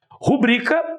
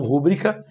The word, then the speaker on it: rubrica: Rubrica e não rúbrica, recorde e não recorde.